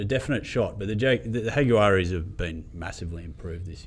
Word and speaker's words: Jaguares: They're a definite shot, but the Jaguaris have been massively improved this year, haven't they? I prefer more H in your pronunciation of it. Jaguaris. And then you just roll the G a little more. Jaguaris.